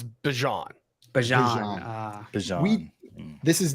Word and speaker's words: Bijan: Oh wait, no, he's Bijan.